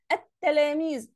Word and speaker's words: التلاميذ: التلاميذ، ما نطقتش اللام عادي والكلمة طالعة صح، يبقى دي لام شمسية.